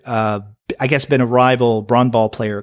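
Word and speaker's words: brännboll: which is one called bran ball and we get a little note here that bran ball is a Swedish version of baseball or softball pronounced like the name bran plus Bowl without the W it literally translates to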